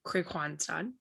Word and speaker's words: Kristianstad: Um, so to pronounce the name, first of all, it's Kristianstad.